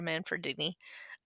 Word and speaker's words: Manfredini: I think Harry Manfredini, that's how you say it.